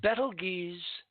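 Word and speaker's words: Betelgeuse: on item number one as bettle geez that's the way I pronounce it as battle gaze dims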